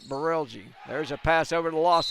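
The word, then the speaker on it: Brelje: hard to pronounce name it's spelled b-r-e-l-j-e we're calling it barelgi there's a Passover the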